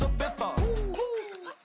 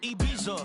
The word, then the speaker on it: Ibiza: I just went to Spain, that's a biffa. Ibiza. Yeah, it's pronounced Ibiza, actually. Yeah. What's the difference, man? Ibiza, Ibiza, you won't see me in neither.